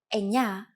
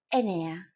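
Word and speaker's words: εννέα: Sometimes, though, especially in casual conversation, Greeks also use efta instead of epta, ochto instead of okto, and ennia instead of enea.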